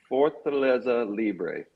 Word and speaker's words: Fortaleza Libre: Fortaleza Libre.